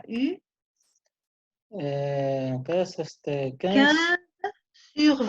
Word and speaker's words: eu: Ok, Vladimir, Tu as eu? tu as eu, hein, Tu se as escribe eu. EU, pero se pronuncia U, ¿Qué es este?